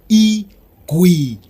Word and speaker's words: iGwinya: to the old beetle car and other issues pronounced e we yeah II GUI yeah one more time e cui yeah there you go chase it was a